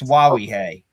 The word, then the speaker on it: Nwawuihe: God, I wish the ESPN announcer pronounced his name right during the game. It's Nwawuihe. I mean, it's right in the notes.